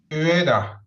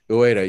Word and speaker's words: Ueda: UEFA. No, it's not UEFA. I'm never going to pronounce that correctly. Ueda.